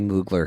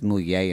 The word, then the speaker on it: Mugler: I think it's Moulier, but Okay. people would say Mugler here, but it's Moulier in French.